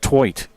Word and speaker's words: Tvedt: Tvedt, and it was pronounced Twoit. Norwegian name.